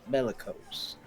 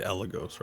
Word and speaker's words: Eligos: We've come searching for somebody named Jolt Bellicose. Sorry, you mean Eligos, right? Oh, Or is you- that or it? you mispronounced it.